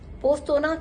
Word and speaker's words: Postojna: और last day हमने पोस्तोना केव, इसमें पोस्तोना में जब हम पढ़ते हैं तो उसमें जे आता है, जो कि साइलेंट होता है।